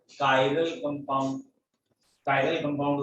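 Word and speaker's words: chiral: अच्छा, डिसिमेट्रिक के लिए वर्ड दिया इन्होंने कायरल। तो अगर कोई कंपाउंड कायरल है, जिसे कई लोग चिरल वर्ड पढ़ लेते हैं, व्हाटएवर, प्रोनाउंसिएशन से ज्यादा मतलब नहीं है।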